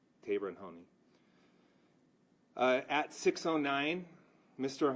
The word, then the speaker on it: Taberon: would pass along that his name is pronounced tabon first name pronounced tabon according to the mother tabon Hony uh at 6:09